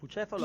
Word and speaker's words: Bucefalo: Yes, Bucefalo actually Beautiful. is the right pronunciation.